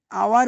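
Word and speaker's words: hour: এখানে এই শব্দটির প্রথম অক্ষর এইচ অনুচ্চারিত বা সাইলেন্ট থাকে। এর প্রকৃত উচ্চারণ ভাওয়েল সাউন্ড দিয়ে উচ্চারণ হচ্ছে। আওয়ার বলি আমরা, কি বলি? আওয়ার বলি, হাওয়ার বলি না।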